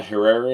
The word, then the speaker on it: Herrera: of Carolina Lina advaitha or Carolina Herrera if you can't roll your R's including the really beautiful